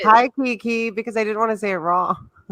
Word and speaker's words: Kiki: And then I was like, wait, I guess it's just like Keanu Reeves. But that's why I was like, hi, Kiki, because I didn't want to say it wrong.